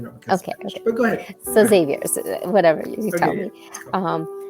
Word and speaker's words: Xavier: only but but uh because in Spanish it's Javier in Spanish it's but since my name since my name starts with an X it's Xavier if it was Javier it be with a J but you know M